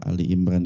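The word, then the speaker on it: آل عمران: surah Ali Imran ini makanya dia bukan Al tapi Ali ya alinya pakai alif lam ya Bukan Ali Ali pakai Ain kalau Ali pakai Ain berarti sayidina Ali karamallah W yaitu Ali Bin Abi Thalib ya itu mantunya Rasulullah Kalau ini pakai Ali pakai Alif aja enggak pakai Ain ya dalam surat ini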